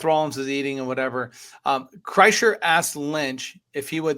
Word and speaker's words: Kreischer: Kreischer, Bert Kreischer.